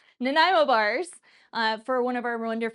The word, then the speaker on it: Nanaimo: Nanaimo bars for one of our wonderful, wonderful community members.